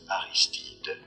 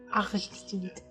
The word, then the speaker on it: Aristide: Reference in French, it is said as Aristide. Aristide.